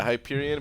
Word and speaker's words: Hyperion: URI on yes yeah Hyperion but I was thinking the name kinda rhymes with diapers yeah he doesn't have